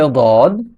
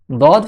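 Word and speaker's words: ض: দদ হরফের মাখরাজ হচ্ছে জিহ্বার গোড়ার কিনারা, জিহ্বার গোড়ার কিনারা উপরের মাড়ি দাঁতের গোড়ার সঙ্গে লাগিয়ে উচ্চারিত হয়। দদ, দদ, দদ। দদ হরফটি উচ্চারণ করার সময় মুখের এরকম আকৃতি হয়। দদ, দদ।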